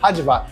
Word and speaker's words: Hacivat: If you haven't tried Hacivat, it's pronounced Hacivat.